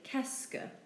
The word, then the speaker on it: qu'est-ce que: You simply say qu'est-ce que. There's only really two syllables to it. Qu'est-ce que, not qu'est-ce que, but qu'est-ce que.